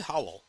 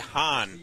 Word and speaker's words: Han: I'm sorry, it's Han.